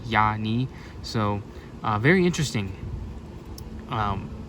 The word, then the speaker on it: Iani: And apparently it's pronounced Yani with like a Y. Yani.